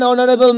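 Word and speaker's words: honourable: এখানে আমাদের আর্টিকেল বসাতে হবে অ্যান অনারেবল ম্যান, অ্যান অনারেবল women. কেন? এইচটা এখানে সাইলেন্ট, আর এইচ যখন সাইলেন্ট হয় এ না বসে অ্যান বসে।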